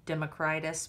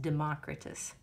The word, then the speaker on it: Democritus: I might have called him Democritus, but I believe his name is pronounced Democritus. Okay?